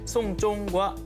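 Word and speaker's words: 送钟: 이 중국어로 시계를 선물하다는 송쫑이라고 발음을 합니다. 이 발음이 장례를 치르다라는 뜻의 송쫑과 발음이 똑같습니다.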